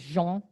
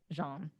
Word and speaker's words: Jean: miss julie christine and is it pronounced john or like actually gene it's it's sort of in like france right so he's jean but you can pronounce it jean okay christine is a